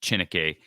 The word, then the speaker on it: Chineke: now and I think at chinica actually think the last name is pronounced chinike I think Chima can